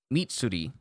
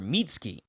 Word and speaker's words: Mitsuri: uh mitsuri kanorogi is meatsuri why did i keep calling her mitsuki her name is mitsuti